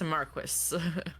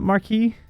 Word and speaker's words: marquis: Thought it was pronounced marquee. It Yeah, that's one of the words that really bothers me that they pronounce it that way. Says Marquis. Yeah, they pronounce it Marquis. I think you would technically pronounce that marquee usually.